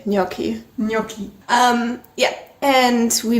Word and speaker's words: gnocchi: you lunch we had gnocchi that's how you pronounce it don't listen to Mindy I think I always say gnocchi yes I think the Italians say gnocchi gnocchi um yeah and